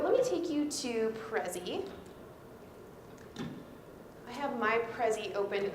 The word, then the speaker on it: Prezi: one that i've been using recently is called Prezi so you want her to Prezi before we spell it for you the way you spell it